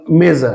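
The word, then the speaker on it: mesa: যদি আমরা দেখি যে সকল শব্দের এস এর পর ভাওয়েল থাকবে তাদের উচ্চারণের জয়ের মতো হবে যেমন মেজা আপনারা জানেন মেজা মেজা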